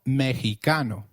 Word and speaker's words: mexicano: Did you notice that the X in Mexicano is pronounced as H?